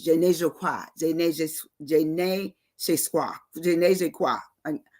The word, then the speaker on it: je ne sais quoi: It says je ne sais quoi, je ne sais quoi. I'm trying to get it right. Je ne sais quoi. That's how it's said in French, which means it's impossible to define.